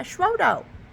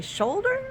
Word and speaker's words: Schrodo: And I'm like, yeah, Schrodo. Like, Schrodo. And they would pronounce it, repeat it back to me, and I'd be like, no, like Schrodo. And they'd say shoulder. I was like, no, I can't say my O's.